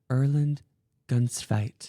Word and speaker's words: Erlend Gunstveit: new friend and another guest of the podcast Erland gunfight that's perfect was it really it's really perfect